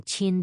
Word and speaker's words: Qin: Q, as in the Qin dynasty, is pronounced like the CH in cheese.